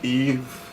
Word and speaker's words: Yves: my name is eve it's spelled yves and uia for those of you